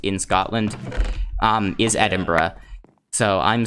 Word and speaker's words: Edinburgh: Edinburgh which is um the capital of Scotland Edinburgh is um I know if you look at it and as a word it it sounds like it should be Edinburgh but the way that it's actually pronounced in